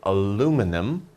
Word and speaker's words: aluminum: an interesting word aluminum Americans will say aluminum British people will say aluminium okay so this word